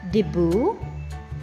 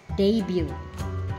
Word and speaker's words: debut: say after ready this word did you say debu no it's debut debut next word did you say prejudice No